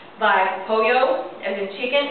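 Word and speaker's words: pollo: from the English language the Double L Sound actually makes a y Sound by poo as in chicken it's spelled p o l l o but it's pronounced poo the N with the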